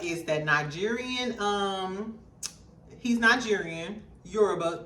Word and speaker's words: Yoruba: So John Boyega is that Nigerian, he's Nigerian, Yoruba to be exact. Am I pronouncing it right? Yeah, Yoruba.